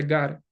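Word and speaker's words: γάρ: La palabra griega ah se pronuncia gar.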